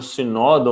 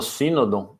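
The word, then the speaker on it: Cynodon: Para a gente entrar, né, no queridinho de todos aí, o gênero Sinodon ou Sinodon, né, depende como das pessoas pronunciam aí das duas formas.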